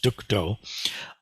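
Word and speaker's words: 득도: And in modern Mandarin, this 2-character combination, which in Sino-Korean would be pronounced Duk Do, means to uphold justice.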